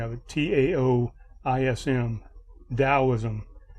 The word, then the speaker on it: Taoism: spelling of it t-a-o-i-s-n Taoism the t is pronounced like a d um so we have